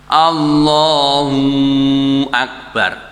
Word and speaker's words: Allahu Akbar: Allahu Akbar. Allahu Akbar. Waw sakinah. Bunyi 'waw' yang tidak diucapkan setelah kata Allahu. Akbar. Tidak diperbolehkan. Artinya menambahkan 'waw' atau ' waw' yang diucapkan.